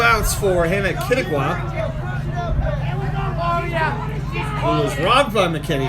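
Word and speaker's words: Quituqua: Pronounced Kittigwa.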